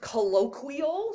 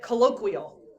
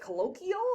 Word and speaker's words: colloquial: make you practice saying it right um it's pronounced colloquial so everybody say it colloquial yeah she had said it colloquial and know it was bad so colloquial um